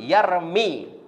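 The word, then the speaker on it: يرمي: tidak boleh kita baca yarmiyu. Harkat dhammanya iya tidak boleh kita munculkan, tidak boleh kita tampakkan. Harus dikira-kira muqaddarah. Maka bacanya yarmi.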